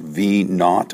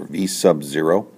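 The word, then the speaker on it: v₀: out with v^2 equals and uh this is pronounced V not or or V sub Z so V ^2 = v^ 2 + 2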